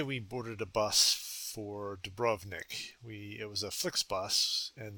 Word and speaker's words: Dubrovnik: Arriving in Dubrovnik, which I gather the Croatians pronounce as Dubrovnik, but I'll stay with my traditional Dubrovnik.